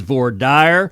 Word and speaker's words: voir dire: have said, Justice Scalia, I understand that in other parts of the country there may be more Frenchified pronunciations of those words, but in the great state of Texas, it is voir dire, and representing Texas, that's what I'll be using.